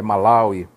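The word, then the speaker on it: Malawi: Jeová a haviam sofrido se tava malauí ou malauí com a Shino Jeová às vezes pronunciavam é malauí a pronúncia correta então o que é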